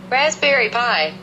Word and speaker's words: Raspberry Pi: O Raspberry Pi se escreve dessa forma e o Raspberry significa framboesa e a pronúncia seria essa daqui. Raspberry Pi.